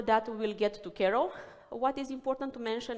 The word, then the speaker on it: KRO: It's introducing Kero. This is the way that needs to be pronounced. I have to admit that the easy way is Kro. I tend to say it like that.